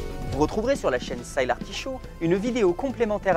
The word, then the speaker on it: Sylar Show: Comment on prononce en vrai? Sylar Show.